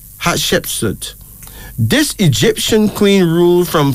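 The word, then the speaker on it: Hatshepsut: t s h e p s u t hardship suit this Egyptian queen rule from four things 90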